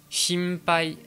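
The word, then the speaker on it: 心配: Ensuite, quand le son m en japonais est suivi d'une consonne comme le p ou le b, eh bien la prononciation va être un petit peu altérée, ça va un peu plus ressembler à un m français.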